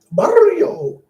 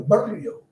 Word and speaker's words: barrio: You gotta roll your R's. Barrio, as in Mario, barrio. Barr, I know how to roll my R's.